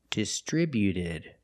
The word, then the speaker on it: distributed: When we add e d, the t at the end is between vowels. So, it's a fast d. Not distributed, but distributed. distributed. Put the stress on the second syllable only.